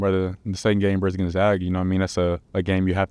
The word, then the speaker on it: Gonzaga: Good job on the pronunciation of Gonzaga, by the way. Yeah, I seen Coach Sampson said something about that, yeah. A reporter said Gonzaga. Yeah, I've never said it like that.